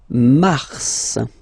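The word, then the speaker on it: mars: then Mar okay so in a way it's an exception because normally final s is not pronounced in French okay we've got some exceptions and this one is one of them so Mar pronounce the final s mar mar okay then ail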